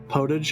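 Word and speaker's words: potage: me is saying page it's podage podage okay that sounded like that sounded like the wrong pronunciation I would get made fun of by chat for saying so it's probably french but yeah that's true this footage was getting cold I still have no idea what it is but it was right yes it's right in French but I get pronounced that way in English too thank you now I'll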